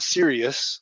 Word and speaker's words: Siriux: i mean because we we pronounce it serious like you're serious about security right yeah or your radio